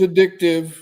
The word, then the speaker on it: addictive: Not accent on the dick either, because a lot of people say that. But it is addictive.